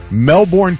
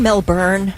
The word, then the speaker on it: Melbourne: the Melbourne cricket ground do you mean melburn is it melburn yeah not Melbourne that's right okay I said it well I mean that part of it spelled like you know the born identity which is born that's right okay I